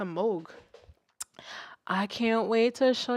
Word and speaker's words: Moog: Hate when people say Moog. Oh my God, not my auntie laugh coming out. Moog. It's a Moog.